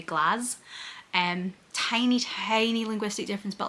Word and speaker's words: Glasgow: American tourists pronounces it the American way, where they say Glasgow, like glass, where we would say glass.